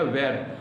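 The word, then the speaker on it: were: जिसको इस्तेमाल करते हैं वेर यानी वेर को वरक सीधे बोलते हैं हम लोग वर वर मींस थे इन प्लूरल में जो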